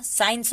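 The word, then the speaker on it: science: यहाँ पे है कि एस के बाद जब भी सी आता है तो सी साइलेंट होता है। एसेंट, एसेंट होगा, साइंस होगा, मसल्स, सीजर्स।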